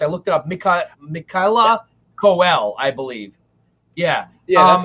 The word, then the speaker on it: Michaela Coel: I think her name is pronounced. I looked it up. Michaela Coel, I believe.